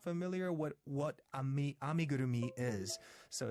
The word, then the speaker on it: amigurumi: painting mandalas or acrylic pictures or crochet some amigurumi oh well good to see another Japanese culture